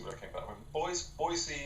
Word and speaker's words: Boise: Boise, and that's how they say it. They don't say Boise, it's Boise, is unbelievably dull, and you can't make it exciting.